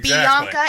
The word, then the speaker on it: Bianca: to say my name like Bianca is three syllables Jordan is to say